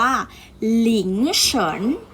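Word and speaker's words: 凌晨: คำ นี้ นะ คะ จะ อ่าน ออก เสียง ว่า หลิง เฉิน หลิง ฉัน ลิงค์ สรรค์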